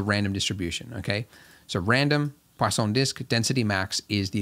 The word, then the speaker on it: Poisson: called poisson disk distribution poisson there's no w in it but i was told that's how you say it i guess it's french when we use this